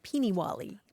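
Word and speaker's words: peenywally: Peeny-wally. Peeny-wally. Sounds familiar, yeah. Yeah, it's spelled lots of different ways, like P-E-E-N-I, and then another word, Wally, like the name Wally, Peeny-Wally.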